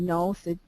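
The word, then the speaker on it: Gnoth: a good German study by a guy named no it's g n o t no and and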